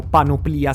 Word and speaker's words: panoplia: Infatti vedete a schermo la panoplia o panoplia se lo vogliamo pronunciare come l'originale greco di Dendra, che è un vero reperto di un'armatura che risale proprio al 1400 a.C.